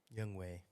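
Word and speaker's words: Younghoe: last name is k-o-o young way is it is that how you say it yeah it's young way not young way yeah I will struggle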